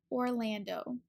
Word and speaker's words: Orlando: first of all Orlando for the first syllable you want to have your lips in a round circle for the o and then we can attach that R to it or Lan is the second syllable so for the L your tongue is behind your top teeth pull and this a sound is ah like apple it's open in the back the last syllable is